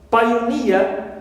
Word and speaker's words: pioneer: Also ear, pioneer. So near, right, ends with this suffix ear, so it is stressed.